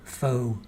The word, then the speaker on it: faux: see she is covering for him fo Grant that's how you say it Fox isn't it fa a ux fox it's like uh fo faux sure faux faux Granite Lily Wayne says